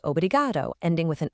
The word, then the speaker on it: obrigado: So, for all the men out there, your word is obrigado. The emphasis is on that second to last syllable, obrigado.